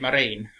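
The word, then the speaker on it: Marain: i've mentioned as well i think he pronounced it marine so i sort of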